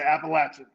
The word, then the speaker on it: Appalachian: to say the other one you just say appalachian all right there's probably there's probably been many